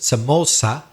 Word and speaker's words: Somoza: There was a famous family called the Somoza, or I suppose you could also pronounce it Somoza, because it's with a Z. And as we know, in Latin America, Z is usually pronounced S, whereas in Spain, some people pronounce it Th.